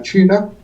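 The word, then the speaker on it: 气: Esas son las 4 ramas principales de la medicina china y es con lo que trabajamos en forma regular. Y por ejemplo, está en lo que es QI, que es el que se pronuncia chi, como tú dices, es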